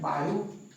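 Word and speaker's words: Biot: ऐसा कहा गया है बायो बी आईओटी T silent होता है सेव्स बायो सेवर्स ल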